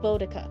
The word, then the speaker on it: Boudica: storytelling, a reference to Boudica? Is that how you say it? Let me look up how to say it. Boudica. Yeah, Boudica. I think you can just reference that.